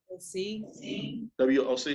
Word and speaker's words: WOC: How do you pronounce that? See. WOC.